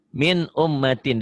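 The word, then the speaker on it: مِنْ أُمَّةٍ: Cara bacanya yang namanya idhar itu tulisan dan bacaan sama.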